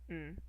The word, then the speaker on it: ん: Doesn't have a vowel sound associated with it, it's just n.